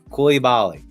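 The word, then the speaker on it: Coulibaly: get it wrong but if I look at the pronunciation cool e Bali Coy Bali Coy Bali Coy Bali okay we got it technically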